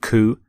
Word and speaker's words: coup: with the pronunciation of ku you don't say the p you don't sound the p at the end here's the your next